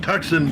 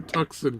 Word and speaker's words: Tucson: Pronounced Tucson, dude. I'd been calling it a Tucson for so long.